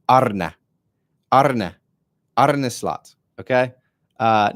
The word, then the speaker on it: Arne: sound cooler he said his first name is pronounced Arna Arna arlot okay uh not Arie he's like it's not